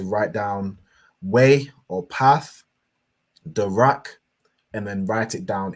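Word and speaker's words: דרך: So da, and then the ra and the ka are joined, signified by this upside down arch, joining these two letters together to make rak. So da rak.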